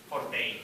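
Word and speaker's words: Fortet: Forte. It's pronounced. It's French or Belgian. Don't be ridiculous. It's pronounced Forte.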